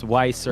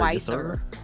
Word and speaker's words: Weiser: Actually plays pretty much all characters, but it really How do you pronounce his name? It's Weiser. Weiser. Weiser, yes sir.